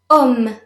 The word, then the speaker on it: homme: Homme. Homme. Remember, the H is usually silent in French.